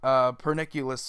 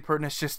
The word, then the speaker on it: Pernicious: I've noticed a lot of people call it Pernicious Deed or Perniculous or whatever. They just completely butcher the name, and yeah, it's definitely Pernicious Deed.